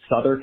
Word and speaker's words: Southwark: Same with the London neighborhoods that look like Southwark and Greenwich, which are pronounced Southwark and Greenwich.